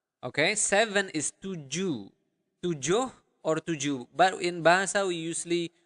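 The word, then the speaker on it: tujuh: seven is to or tuu but in basa we usually we do not pronounce the h at the end of the word so you do not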